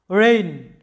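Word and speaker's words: reign: আর এই একটা সিলেবলের মধ্যে আমাদের কি আছে যে এন এর আগে জি আছে, তাই জি এর কোনো উচ্চারণ হবে না।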